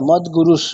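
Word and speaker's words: মদ্গুরুঃ: হ্যাঁ মদ্গুরুস, মানে ওখানে তালব্য স উচ্চারণ করতে হবে, বিসর্গের জায়গায় তালব্য স।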